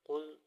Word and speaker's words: قل: بسم اللہ الرحمن الرحیم۔ قاف لام پیش قل، الف زبر آ، عین